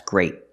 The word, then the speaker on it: great: parking spot so remember pronounce the t's at the end of your words they're not silent there's stop te's that's great not that's gray that's great use a